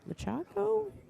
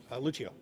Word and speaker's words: Lucio: How do you pronounce it? Lachaco? Lucio. Lucio.